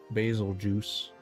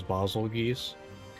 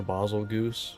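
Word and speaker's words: Bazelgeuse: Basil juice, what they call them. Still, I'm pretty sure the actual pronunciation is Basil geese. Or Basil goose. I think it's geese.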